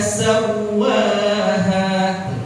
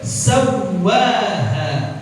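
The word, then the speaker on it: سَوَّاهَا: Jadi bacanya wa nafsin wa ma sawwaha. Yang kedua enggak dibaca sawwaha, sawwaha, cuma dibaca tasydid aja tanpa gunnah.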